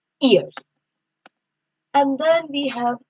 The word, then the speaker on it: ihr: So ear, it's pronounced like, I'll write the pronunciation here. ear.